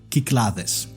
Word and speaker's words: Cyclades: would like to propose the so-called proper Greek pronunciation, Kyklades. So that's how it's pronounced, Kyklades. Yes, Kyklades. Have you got to do that TH thing with the D as well? Kyklades. Yes, because that's how you pronounce the letter delta.